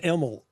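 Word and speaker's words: Imel: It's pronounced Emel. I-M-E-L. Emel.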